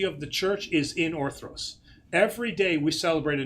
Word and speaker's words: Orthros: Because most Greeks pronounce it orthos. Mm-hmm. Orthos means straight up. Orthros means dawn. It is a service of the dawn. Okay. So the R is important. Okay. Orthros.